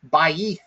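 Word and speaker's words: בַּיִת: And the way that this word is pronounced is bayith.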